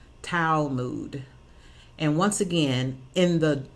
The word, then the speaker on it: Talmud: old Jewish scripture book tal mu D and it pronounced foul mood and once again in